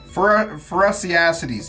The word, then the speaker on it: Phorusrhacidae: I looked up the pronunciation of it. I'm not ashamed. Phorusrhacides.